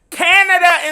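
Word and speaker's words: Canadá: while I'm educating him on THE FACT THAT CANADA in Spanish is pronounced Canada, honey.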